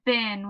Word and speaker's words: been: This word is bin. What's the word? Bin is spelled B-E-E-N. Now, E-E usually says E, so this is a rule breaker. But the word is bin.